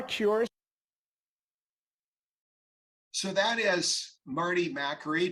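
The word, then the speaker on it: Makary: so that is Marty mackery Dr Marty mackery or McCary has said as I think he pronounces it he's been one of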